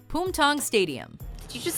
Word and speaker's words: Bumthang: But to those of us who speak English and don't happen to know that it's actually pronounced Bumthang, bums are just funny, so it's hard not to snicker when we hear it.